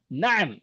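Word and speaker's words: نعم: नाम नहीं बोलना. Na'am. अरबी में बात करेंगे तो अरबों की तरह बात करना.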